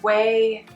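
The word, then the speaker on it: Ouai: that i like is the way and whey is spelled o u a i i believe i'll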